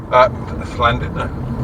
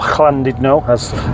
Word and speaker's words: Llandudno: But of course, U in Welsh is E, and double L is SL.